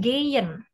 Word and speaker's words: gehen: Undan gehen, nicht gehen. Ingat, H di tengah kata itu meluluh atau enggak dibaca ya. Gehen.